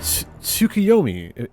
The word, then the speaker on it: Tsukuyomi: to to take a seat it is pronounced tuomi correct a figure from Far Eastern mythology no